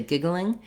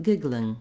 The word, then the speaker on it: giggling: emphasize the three syllables they'll say giggling whereas british speakers might say more like giggling giggling with with a clear two-syllable pronunciation in any case uh